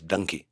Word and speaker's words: Dunki: would be called donkey it is donkey but the way a part of the country pronounces donkey in India is donkey the punjabis they say donkey so how much to